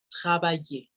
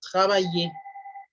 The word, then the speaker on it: travaille: Y- Si le quito la I y la R, la pronunciación sería hasta las L's y acuérdense que la L es como una doble I. Entonces es travaille, el radical, travaille.